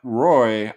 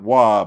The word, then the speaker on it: Roy: Matt Roy. I pronounce it Matt Waugh because that's how Waugh pronounced it back in the 90s. I think it's Waugh. People call him Matt Roy.